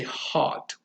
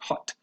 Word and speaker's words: hot: star, and you say hot. Although hot So in some varieties of US American English is pronounced with a different vowel sound. Some people say more like hot, more relaxed, but that's a sound